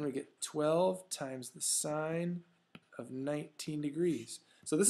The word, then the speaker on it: sine: Looks like sin, it's pronounced sine.